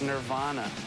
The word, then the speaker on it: Nirvana: the way we pronounce the name of the band is nirvana it's not Nirvana we were on tour